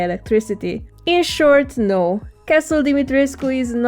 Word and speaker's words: Dimitrescu: model for creating the creepy castle of Lady Dimitrescu. Yes, that's how you're supposed to pronounce her name.